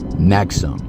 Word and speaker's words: NXIVM: It looks like maybe there's numerals, I don't know, but I heard them pronounce it Nexum.